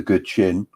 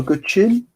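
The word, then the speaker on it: guqin: But I don't know, Good Chin? It's the same as chin, basically. It's a Chinese word, so you've got the QI, it's pronounced with a ch sound. So Good Chin is kind of Chinese zither.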